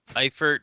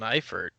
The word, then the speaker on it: Eifert: end or its own Eifert yeah because you're putting the emphasis on the wrong syllable right yeah props some